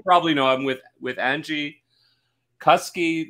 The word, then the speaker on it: Angie Kuske: know i'm with with angie cuskey that rhymes with husky as i was i